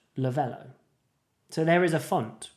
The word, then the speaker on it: Lovelo: name that we've picked a lot of people mispronounced a lot of people call it lovelo but it is lavello um maybe you should put a little maybe